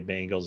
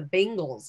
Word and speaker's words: Bengals: I always prefer to just like kind of go right down the middle and you say it quickly. Leave enough gray area so people think I'm saying it right. When in actuality, it's the Bengals.